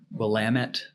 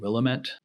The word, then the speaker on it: Willamette: She described everything to me, gave me the proper pronunciation of the Willamette Meridian line. I was saying Willamette.